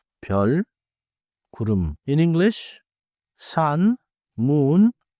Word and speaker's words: 별: 별 means star. 별. The vowel is 여. So keep it different from 발.